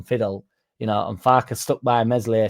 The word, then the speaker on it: Meslier: But if Darlow thinks he's playing second fiddle, and Farker stuck by Meslier Silent S for a long time, didn't he?